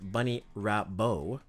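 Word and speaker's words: Bunnie Rabbot: okay so bunny rabbit bunny robot pronounced Bunny rap bow all right her her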